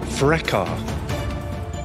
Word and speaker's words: fracas: The word has two pronunciations. Fracas or fracas.